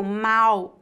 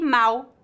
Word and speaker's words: mal: a mesma no Brasil a letra L em final de sílabas é pronunciada exatamente com a letra u portanto pronunciamos mau com